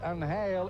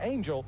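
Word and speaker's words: Ángel: I realize Anal is the correct pronunciation in Spanish but he said I would prefer Angel and so be it by Manf Freddy.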